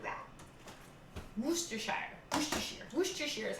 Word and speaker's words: Worcestershire: I've always heard Worcestershire. So I pronounced it very American, and I think, oh no, I said Worcestershire.